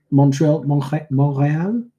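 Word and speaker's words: Montréal: Hi from Montreal. Butchered that. I don't know. Well, in French, you wouldn't pronounce the T.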